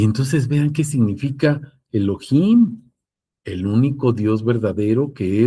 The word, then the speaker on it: Elohim: Se escribiría el oo, luego h inimos con J porque así se pronuncia, Elohim.